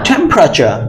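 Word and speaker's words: temperature: never সে autograph right so আবার সাথে সাথে উচ্চারণগুলো একটু করার চেষ্টা করো আচ্ছা আমরা পরেরটায় চলে যাচ্ছি বলম প্র প্র চ টেম্পারেচার টেম্পারেচার টেম্পারেচার টেম্পারেচার টেম্পারেচার টেম্পারেচার স্ট্রেসটা কোথায় আছে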